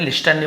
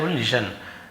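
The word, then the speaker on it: listen: should लिसन सुनना चाहिए T silent है लिस्टन लिसन कि है ना हमें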